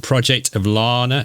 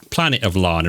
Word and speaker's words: Planet of Lana: No, Planet of Lana, isn't it? I always get the name wrong. I say Planet of Luna, or I keep getting that wrong. But yeah, Planet of Lana.